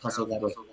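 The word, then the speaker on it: 黄昏: Yeah, so it's a Japanese term. It's pronounced Tasogare, and Okay.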